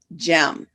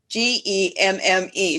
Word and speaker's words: Gemme: fridays today my special guest is gem spelled g-e-m-m-e so i had to check with her to pronounce it correctly but what a great last